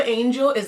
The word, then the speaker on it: angeli: angel the word for angel is actually one of those words that you pronounce with a yoga accent as opposed to having an authentic word so the word for angel in yoga is angeli so basically we just